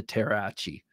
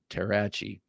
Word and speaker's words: Terrachi: This next one, this is a Joe Flowers design, and it's his follow-up to the Terrasaur, the Terrachi, like machete, Terrachi.